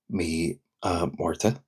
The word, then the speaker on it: Mí Márta: It could just be Mí Márta. However, um I have also seen me um Marta, me um Marta uh or me a war me a war to if you say it really fast, me a war to.